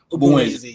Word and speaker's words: Ogbunwezeh: Is it Ogbunwezeh? Ogbunwezeh, yeah. Yeah. I know I did try when it comes to pronouncing.